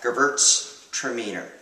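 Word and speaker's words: Gewürztraminer: equate wine to dogs is gerbert stromer seems unpronounceable but it's actually not so bad gerbert's tremendous try it gervert's tremendous excellent let's try a little yugel gerbert's demeter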